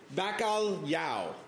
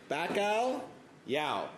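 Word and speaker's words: Bacalhau: First, the most important thing, Bacal Yao. Bacal Yao. That's how you say it. It's like a Y-ish thing in the middle there. It's not an L. It's Portuguese. The reason it's called the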